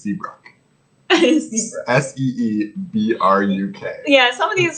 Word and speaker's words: Seabrook: is always faking injury it definitely looks like it says it's pronounced c brock s-e-e-b-r-u yeah some of